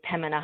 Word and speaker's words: Pembina: We don't even really pronounce the B, and we say Pembina Highway.